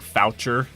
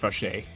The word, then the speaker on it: Fauché: In English, you would think it's pronounced like Foucher, but it's pronounced Fauché. Fauché, something like that.